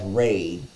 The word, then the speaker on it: Ra: Ra, pronounced as Ra and sometimes as Re, is an Egyptian sun god.